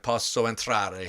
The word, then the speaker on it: Posso Entrare: We're talking about Posso Entrare, her documentary. Are we doing okay with the pronunciation?